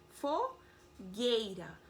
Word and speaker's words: fogueira: pronunciada Pinguim pronuncia yoo fogueira não pronuncia eo ai como que